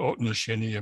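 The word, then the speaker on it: отношение: There's this word, I'll probably pronounce it terribly, otnosheniye.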